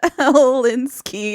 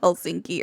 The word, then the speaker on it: Helsinki: that I'm stupid um I said helinski instead of Helsinki earlier Helsinki Helsinki Helsinki I wrote it correctly I said it wrong I'm stupid okay we're